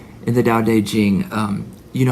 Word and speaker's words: Tao Te Ching: It's pronounced Tao Te Ching, even though it starts with a T, T, C, and has a T and a T and a C.